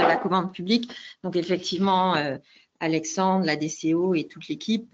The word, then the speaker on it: Alexandre: Si je prononce bien, Alexandre.